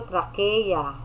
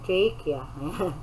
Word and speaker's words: trachea: the esophagus from the trachea. Ayan, alam niyo na. Yung ibang pronounce dito, trachea. Diba? So, dapat medyo gandahan naman natin, trachea. Wag trachea. Talagang Tagalog na Tagalog.